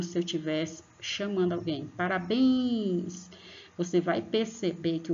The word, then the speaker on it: Parabéns: Parabéns! Você vai perceber que o bens, você põe bastante força aqui, ó, na região da garganta para pronunciar o bens.